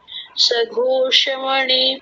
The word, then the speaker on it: सुघोष: युधिष्ठिर नकुल सह देवस सघोषमण पुष्पक सघोष है कि सुघोष है सुघोष हां जी सुघोष सुघोष नहीं सुघोष सुघोष